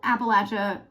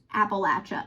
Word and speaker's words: Appalachia: not the right way it's Appalachia not Appalachia it's Appalachia Appalachian not appellation so welcome to that